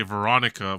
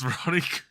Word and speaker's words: Veronique: I thought he was gonna say Veronica, but like, it's Veronique.